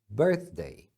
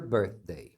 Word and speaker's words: birthday: e aqui também aniversário a gente tem o th que é sempre pronunciado com a língua entre os dentes Birthday Birthday quando você